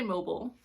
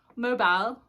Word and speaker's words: mobile: We say mobile, and they say mobile, I guess. Mobile. All right, like it's like saying bile rhyming with while.